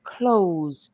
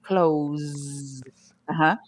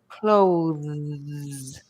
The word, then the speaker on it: clothes: you close the door now most people can say close but close finishes with your teeth showing and your tongue behind your teeth clothes uhuh but if you put your tongue out between your teeth then you get clothes close so you stick your tongue out and then you push it back in clothes hopefully that will help